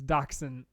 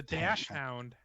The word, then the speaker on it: dachshund: and it's dachshund It's a dash hound.